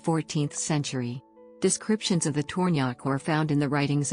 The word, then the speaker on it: Tornjak: the tornyak pronunciation is tornyak official original name also known as bosnian and